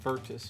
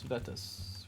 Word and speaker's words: Vetus: And then it is Ossa Vetus. Okay, make sure I save that. I will add to this, create location Ossa Vetus. Not Vertus, Vetus, right?